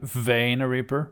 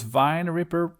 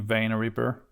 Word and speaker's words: Vein Ripper: Is my pronunciation right this time? Vein Ripper? Because Vine Ripper wasn't really that good, I think.